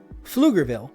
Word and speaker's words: Pflugerville: Pronounced Pflugerville. They like to put a P in front of, did I spit? P in front of everything, just so you know it.